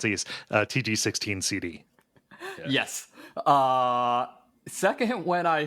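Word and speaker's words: TG-16 CD: intro to Ys, book 1 and 2 on TIG 16 Sid. TG. Oh, you're making fun of me. No, that's how you pronounce these. TG16 CD.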